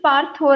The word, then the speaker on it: Partho: Your name is pronounced as Partho, right? Partho, Partho. Yes. So many days I used to call you Partha and you never corrected me because I just see the spelling and I pronounce, right?